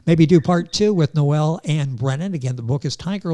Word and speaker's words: Noel-Anne Brennan: marketing company this book is Tiger Lily by Noel and Brennan I'm going to spell that n o e l- n an NE